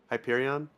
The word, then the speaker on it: Hyperion: and how their lead was shrinking to pip Hyperion did I say it right that time yes you did Hyperion okay Hyperion racing uh three so um that